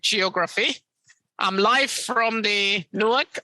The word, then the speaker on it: Newark: I'm live from the Newark, or as Bill would pronounce it, with his North Jersey parlance Newark Liberty Airport, and Bill will be joining me shortly.